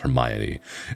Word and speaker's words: Hermione: be all like hey did you see what Hermione did and then like talking they'll be like no should we it's actually pronounced Hermione you know like we didn't have that so